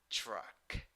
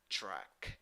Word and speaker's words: truck: You have U when you write it, but when you pronounce it, you have schwa. Pronunciation: truck, truck.